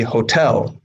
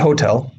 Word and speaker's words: hotel: to see there but in the russian incorrect form the o is stressed in the correct english form the e is stressed so it should be hotel not hotel hotel stress is on the second solo and i blame the